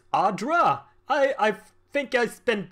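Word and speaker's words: adra: horribly awry now I just learned that it's pronounced Audra hi I think I spent the entire playthrough of the first game saying it's a draw that's fine made a nice story you fixing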